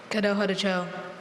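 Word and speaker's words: Kadohadacho: So I mispronounced that. The word is Kado Hadacho. Kado Hadacho.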